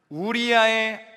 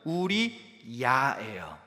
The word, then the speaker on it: 우리야: 보고했나요 그녀가 누구라고 답합니까 우리아의 아내 밧세바라고 보고합니다 여러분이 가지신 성경이 아마 대부분 개역개정 성경일 겁니다 거기에 뭐라고 나와 있나요 우리 아라고 나와 있을 거예요 근데 정확한 원문의 발음은 우리 야에요 야 그래서 세 번역